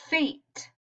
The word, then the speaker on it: fate: What happens when I add magic E to the end? Now what does the word say? Let's see. Eight. Eight. Fate.